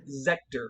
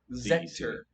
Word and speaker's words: Zector: Zector with a Z. Like Sector, okay.